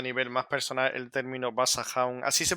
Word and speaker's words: Basajaun: para ti a nivel más personal el término basah así se pronuncia sí bason es un personaje de la